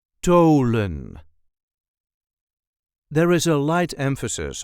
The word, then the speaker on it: Tholen: Tholen. There is a light emphasis on the first syllable. Tholen. THO-LEN. Tholen. So, for our English speakers, the TH is pronounced as a hard T, not the English TH or the.